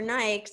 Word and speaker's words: Nike: going to runners forums people still going to running stores and out here in the us and ask for nikes even though here everyone insists it's pronounced nike so you want to